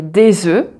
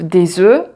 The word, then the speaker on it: œufs: Donc là aussi, la prononciation change et on ne prononce pas le F. Donc un œuf, des œufs, un bœuf, des bœufs.